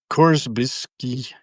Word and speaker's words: Korzybski: I'm actually reading up on how do you pronounce this guy's name? Korzybski, Korzyb, Korzybski.